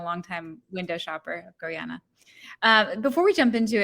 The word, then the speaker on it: Gorjana: of e-commerce at gorana uh yes it's called gorana for those of you that have been mispronouncing it for forever I'm really excited to